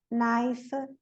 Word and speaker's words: knife: K is always silent in the word initial spelling sequence. K-N. Não, sempre na KN, o N não é pronunciado como Neil, Ni, Nob, Night, Nave, Knowledge, Knife, Knock.